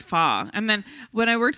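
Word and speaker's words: pho: about that before when you know the soup foe yep but it's actually pronounced fah and then when i worked in an italian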